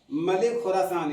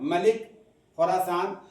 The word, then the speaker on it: मलिक खुरासान: तो दरवेश कंचनपन के बादशाह को अपने बाप मलिक खुरासान याद रखिएगा नाम ये भी किरदार मलिक खुरासान या मुल्क खुरासान लेकिन मुल्क ना उच्चारण करके तलफुज़ ना करके मलिक खुरासान ही का उच्चारण कीजिएगा के प्रधान से